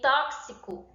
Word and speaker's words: tóxico: mais de um fonema como tóxico em tóxico eu pronuncio você e o é tóxico e o x ele tem esse som de dois de duas de dois fonemas certo tóxico certo então